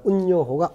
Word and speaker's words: 운요호: 이렇게 해서 운양호라고 배웠는데 우리 때는 일본식 발음 운요호가 오게 되는 거야.